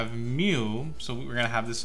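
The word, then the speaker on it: μ: So Greek symbols will always talk about population, and how do you pronounce this or write it? It'll be mu, and this is x bar, okay?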